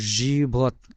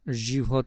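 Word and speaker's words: живот: মত যেটা দেখা যাচ্ছে এটার উচ্চারণ হবে ইংরেজি ভি আছে না ভি এর মত তারপর ও তারপরে তে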